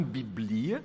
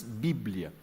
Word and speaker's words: Bíblia: entrou para o português, só que com uma pronúncia um pouco diferente. Não biblia, mas bíblia.